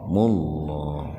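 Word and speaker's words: الله: panjang dua-duka dukirmullah mullah tafhimah lafaz Allah atau Lebih spesifiknya huruf lam didahului domah. Jadi dibacanya tebal bunyinya itu O itu biar terdengar tebal mullah. Kalau tipis bunyinya a kan lah gitu.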